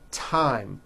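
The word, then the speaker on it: thyme: like to point out although these next words and names are spelled with a th they are pronounced as if they were spelled with a normal T TT like that and these words are Thomas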